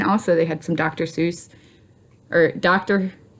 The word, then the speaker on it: Seuss: they had some Dr Seuss or Dr sus is how it's supposed to be pronounced I believe cuz it's supposed to rhyme with bus so I always say